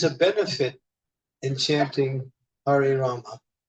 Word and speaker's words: Rama: Prabhupada said you should chant Hare Rama, pronounce the entire name.